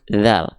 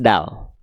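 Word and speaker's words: ذ: Yang pertama, huruf dzal dilafalkan menjadi huruf dal. Nah, ini keliru ya.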